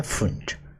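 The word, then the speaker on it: Pfund: एक है लाइमन, एक है बाल्मर, एक है पाश्चन, एक है ब्रैकेट, और लास्ट वाली लाइन है फुंड। ठीक है, पी साइलेंट है यहाँ पे, फुंड है।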